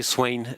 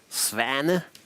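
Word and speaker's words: Svane: Fix or Freddy Swain as I call him. The correct pronunciation is somewhere in between. It's a Danish name.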